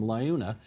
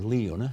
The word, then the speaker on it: LiUNA: the construction workers from Liuna, or Liuna, however they pronounce it? Yeah. They pronounce it both ways, actually. Yes.